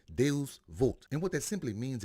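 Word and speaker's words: Deus vult: but what is it the wording on his arm is Latin and how it's pronounced is if I can get this right it's pronounced de vult and what that simply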